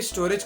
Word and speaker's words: Storj: उसका spelling STORJ है बट उसे प्रोनाउंस स्टोरेज की तरह किया जाता है।